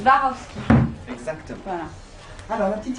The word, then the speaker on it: Swarovski: Comment on prononce? Swarovski. Swarovski.